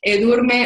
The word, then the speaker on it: Edurne: from my Create Passive Income with eBooks course, Edurne Ubani. Did I pronounce that right?